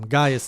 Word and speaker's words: Gaius: I pronounced it wrong last time. Gaius is the right way.